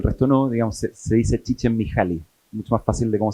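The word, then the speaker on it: Csikszentmihalyi: la pega el resto no digamos se dice chichen miali mucho más fácil de Cómo se escribe eh pero ahora ustedes saben escribirlo Así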